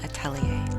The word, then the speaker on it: atelier: Today, we're making space for creative safety and collaboration with my friends Kim Kessler and Alice Sudlow at the novel Atelier.